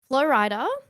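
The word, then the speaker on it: Flo Rida: And I was like, Flow Rider. Shorty got them apple bottom jeans, Yeah. boots with the fur. This is not making sense in my head. Turns out Flow Rider rhymes with Florida.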